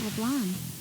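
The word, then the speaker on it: Leblanc: long hours all about leblan you guys really don't pronounce the C the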